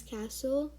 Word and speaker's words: castle: word we have is castle you pronounce it as c a s l e because the t is silent um as you can